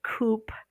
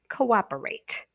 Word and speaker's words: cooperate: Okay, if they're looking at this word and they might say cooperate. No, if they know to separate the prefix, they have co-op-rate. Okay, cooperate.